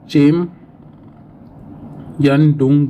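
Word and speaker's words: Chemayungdung: पे आपका ग्लेशियर है चेम यन डूंग ग्लेशियर। स्पेलिंग मिस्टेक हुआ तो थोड़ा सही कर दीजिए। बट टेक्निकल यही प्रोनाउंसिएशन होता है।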